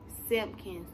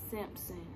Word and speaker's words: Simpkins: Simpkins, not Simpson. Simpkins, S-I-M-P-K-I-N-S. Some people get it wrong.